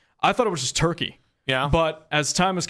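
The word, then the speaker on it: Türkiye: It says the country is officially and correctly pronounced Turkey, and then it gives the spelling. The official pronunciation is used to distinguish the country from the English word for the bird.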